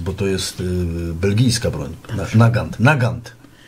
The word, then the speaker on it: Nagant: to jest belgijska broń Nagant Nagant pisze się Nagant ale się czyta nagan ale kamrad Mauser Zresztą